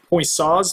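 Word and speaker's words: Poiseuille: is what's known as point saws law I believe that's how you pronounce this kind of unique French name but boy saw came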